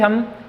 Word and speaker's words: Holme: होम signal, देखो होम, इसके अंदर L साइलेंट होता है। कभी आप इसको प्रोनाउंसिएशन करो इसका होल में, ये L साइलेंट होता है, तो इसको हम बोलेंगे होम सिग्नल्स।